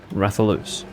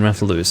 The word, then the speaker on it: Rathalos: monsters wrathian raphaelous yes it is loose wrathion rather loose those are the correct pronunciations for both names but i'm in bad habits so i say raytheon yeah it has traditionally been rather loose and i don't know what they say in